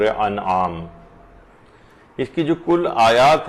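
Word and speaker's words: أنعام: کر دی جائے، وہ یہ ہے کہ لوگ اسے سورہ انعام پڑھتے ہیں، جبکہ یہ ہے سورہ انعام، یہ زیر کے ساتھ نہیں ہے بلکہ یہ زبر کے ساتھ ہے، تو اس کا صحیح تلفظ ہوگا سورہ انعام۔ اس کی جو کل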